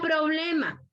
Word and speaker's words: problema: Aquel que no se escribe, solo se pronuncia. La palabra problema, ¿dónde lleva la fuerza de voz la palabra problema?